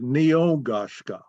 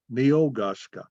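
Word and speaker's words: Ni-U-Kon-Ska: name we call ourselves is Neil goshka four syllables me oh gosh Scott Neil guska translated into English it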